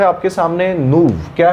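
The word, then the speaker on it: nouveau: फिर एक और शब्द है आपके सामने, नूव। क्या है, नूव। देखो ये इतना लंबा स्पेलिंग है, बट इसे कहा जाएगा नूव।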